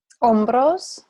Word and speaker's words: hombros: Hombros. Good. Los hombros. Now, this has a silent H on it.